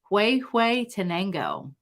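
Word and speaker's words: Huehuetenango: roast from guatemala and i believe it's the location is pronounced hue hue tango it is wonderful a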